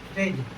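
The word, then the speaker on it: fridge: जाएगा उसके बाद है फ्रेज फ्रेज माने होता है फ्रेज एफ आर आई डी जी ई यहां पर भी बी के बाद क्या आया है? जी आया है।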